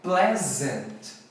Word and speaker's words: pleasant: Mas é pleasant. Pleasant, a pronúncia correta de agradável em inglês.